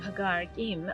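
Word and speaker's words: Ħaġar Qim: prehistoric Temple complex of Hagar Kim offers a glimpse into a forgotten era it's spelled like Hagar Kim but the Q is apparently silent dating back over 5,000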